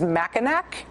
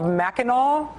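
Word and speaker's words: Mackinac: If you phonetically read the name of the think tank, it is Machinak. They apparently prefer to be called Meno.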